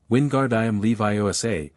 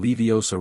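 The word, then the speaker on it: Wingardium Leviosa: Wingard Leviioa with the emphasis on the gar and the O. Common mistakes include saying leiosa wrong and flicking too hard, which was fine.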